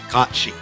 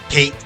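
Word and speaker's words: Cait: cats having n and it is pronounced Ki not Kate Sith yeah know back in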